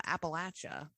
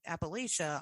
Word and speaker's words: Appalachia: U but I was also thinking about um uh Appalachia.